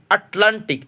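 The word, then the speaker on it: Atlantic: LAN লান, TIC tick, আটলান্টিক। এই আটলান্টিক বানানের শেষে আমরা কিন্তু সি পেয়েছি। আমরা জানি কোনো একটা লেট ওয়ার্ডের শেষে যদি আমরা সি পাই তাহলে সির উচ্চারণ কী হবে? ক হবে। এখন আপাতত আমরা বুঝলাম সি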